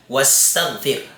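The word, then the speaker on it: واستغفر: May nauna sa kanyang isang letra, magiging silent po siya. Wastaghfir.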